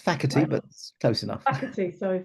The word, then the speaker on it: Facherty: Phantom Mike bti bti is that how you pronounce it why not it's faky but close enough FY soorry faky and today